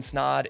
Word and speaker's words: Snod: My name is Ryan Snod, it rhymes with odd, and I've personally helped clients all over the country help concept, capture, edit, and monetize their podcast.